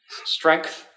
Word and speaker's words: strength: I'm trying to pronounce my G in strength, because I just say strength, and then my girlfriend said, no, you had to pronounce the G. Strength.